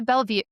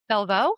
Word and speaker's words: Bellevaux: So, today's guest is a powerhouse in the real estate world, Tina Bellevue. Oh my gosh, I'm going to say it wrong. Tina Bellevaux.